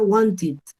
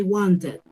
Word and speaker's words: wanted: dice que lo diga yo debo recordar que todos los que terminen ente y les agregó que de estos voy a pronunciar con l entonces yo diría want it want it your dog wanted off y yo quería un café cierto hay want it chip error común hay wanted hay guante si es un error común y muy entendible pero